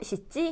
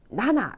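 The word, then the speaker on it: 七: 4는 원래는 시라고 읽는데 용이라고도 읽고 7은 시치인데 나나라고도 읽어요.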